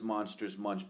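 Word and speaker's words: Monster Munch: Well, it says, I mean, Kelly says it rhymes with crunch. And so you're actually right. It is Monsters Munch pickled onion chips.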